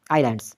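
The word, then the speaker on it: islands: है ये पहले वाला आई एस एल ए एंड डी आइलैंड्स तो इसमें साइलेंट क्या है एस है उम्मीद है इस क्वेश्चन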